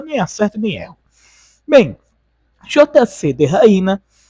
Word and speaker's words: JCTheHyena: A pronúncia certa em inglês seria JC de Raina, porém em português ficaria JC de Hiena.